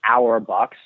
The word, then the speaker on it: rBux: point systems yeah so we call them our box which phonetically sound like our box and it stands for